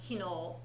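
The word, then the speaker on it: 昨日: We haven't learned yesterday yet, but it's pronounced kino.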